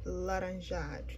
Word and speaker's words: laranja: of these like five shades for one color laranja that's how you say it laranjan black pretty